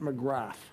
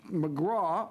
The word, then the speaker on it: McGrath: Now, most people would pronounce it McGrath, but it's not pronounced McGrath. It's McGraw, a good Newfoundlander MP